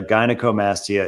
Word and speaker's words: gynecomastia: tried everything that's right it's gynecomastia is the way to pronounce it gynecomastia I remember that